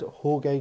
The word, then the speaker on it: Jorge: in Midfield he had Jorge Grant or is it George I've always that's the way it's spelled but he said George George um yeah some some